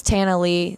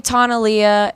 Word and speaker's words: Tana Lea: to pronounce my name people call me Tana Leah and that's just fancy I'm from Texas it's very plain it's like Montana without the Mon and Lee has a silent a so it's just an